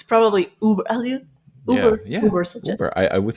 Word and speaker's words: Ubersuggest: How do you pronounce it? I think it's Uber, right? It's Uber. like Uber. Sorry, I think it's from the German, like Uber.